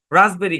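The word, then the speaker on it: raspberry: একবার উচ্চারণ করে দিবেন আরো যেসব শব্দে পি সাইলেন্ট থাকবে যেমন কাবোর্ড রাসবেরি কু পোর এখানে এস টাও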